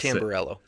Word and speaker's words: Tamburello: It's and Tamburello.